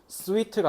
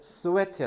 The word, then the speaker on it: sweat: 자, 요거는 sweet가 아니라 너네 포카리 스웨트 알지? sweat야, sweat. 땀 흘리다. 발음 조심해.